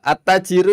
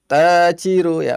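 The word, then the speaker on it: التاجر: at-tajiru itu huruf apa? Syamsiyah. Langsung dibaca masuk saja Ibu. Jadi dahabat tajiru ya, bukan dahaba Oh, al tajiru.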